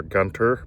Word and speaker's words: Gunter: Spelled Gunter, Gunter, but you pronounce it Gunter.